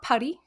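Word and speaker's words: Paris: 18 marie married jacques paddy very fun name to say i did look up how to pronounce that one many times because the s throws me yes um another free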